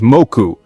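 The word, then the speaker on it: もく: So, in the 5th century, Japan imported kanji writing system from China, and some Chinese pronunciations, such as moku, were introduced to Japan together with the character.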